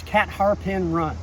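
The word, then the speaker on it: Catharpin Run: me cat harpin run it looks like catharpin and indeed the catharpian run in fredericksburg is pronounced that way this one is cat harpin run okay in other words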